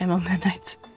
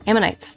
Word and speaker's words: ammonites: are pretty nasty looking I know I mispronounce that Mom menites amonite ammonites ammonites ammonites there we go ammonites you're pretty nasty